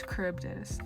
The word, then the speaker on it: Charybdis: It's Charybdis. That was the one version I couldn't pronounce.